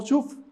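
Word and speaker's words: שוב: Las letras que ustedes miran ahí se pronuncian como shuf.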